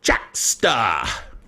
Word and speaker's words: Jaksta: Geek Software of the Week this week is Jaksta. Now, that's spelled Jaksta, as it says there on the screen. And it's kind of like gangsta, except it's Jaksta.